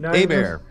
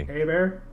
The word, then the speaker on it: Hebert: Kyle uh habert right haybert Hebert not even close he bear no no no not even not even hay bear it's h is silent E is like an a a bear a bear a bear